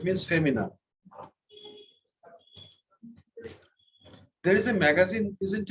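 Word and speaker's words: féminine: You add E at the end and the N is pronounced. Feminine. From where comes the word feminine?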